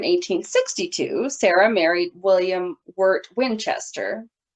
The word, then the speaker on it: Winchester: Occasionally, I heard it called Westchester, but I don't know why that is, because the house is always called Winchester. So, someone correct me if Yeah. I'm wrong. And um, it's spelled with an I, so why would they be saying Westchester? I don't know. I felt like maybe someone just said it wrong and something I was listening to.